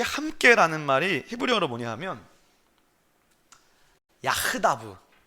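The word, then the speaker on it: יחדו: 근데 여기서 이 함께라는 말이 히브리어로 뭐냐 하면 야흐다브라고 발음해요.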